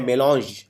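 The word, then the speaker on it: mélange: इसको प्रोनाउंस करते हैं मेलॉन्ज। ये फ्रेंच भाषा का शब्द है, इंग्लिश में लिया गया है।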